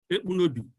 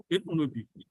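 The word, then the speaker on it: Ekpunobi: my name is Ebunobi. What is the name? Appearing with me, Ebunobi is spelled E-K-P-U-N-O-B-I. Ebunobi.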